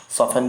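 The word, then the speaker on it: soften: चलिए ऑफन के अलावा सॉफन, सॉफन भी आपका हो गया, टी साइलेंट रहेगा।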